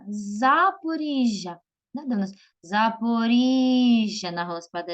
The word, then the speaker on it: Запоріжжя: України давайте з вами поставимо в цих словах наголос Вінниця Вінниця на Господа на перший склад на і Запоріжжя Запоріжжя Запоріжжя на Господа і знову Київ кличемо слово